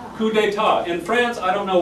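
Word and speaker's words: coup d'état: with me coup d'etat coup d'etat in France I don't know why they use it's very very like bad environmentally because they're wasting all of their last continents they never pronounce the last consonant why isn't even there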